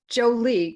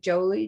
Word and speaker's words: Joli: we want to welcome jolie correct jolly isn't happy jolly that's right i remember that conversation because i i that was such a tongue twister i was like jolie jo no it's jolly